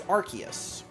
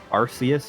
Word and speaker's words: Arceus: try to remember it's Arceus. I feel like they've changed the official pronunciation at one point where they had the movie about Arceus and they called it Arceus, and now they say Arceus.